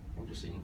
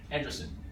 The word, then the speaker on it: Andreessen: So Mark Andreessen, how do you pronounce his name? Andreessen. Yeah, Andreessen.